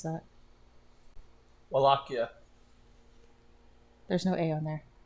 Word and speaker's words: Wallachia: Wallachia. There's no A on there. The Wallachs? No, it's pronounced Wallachia.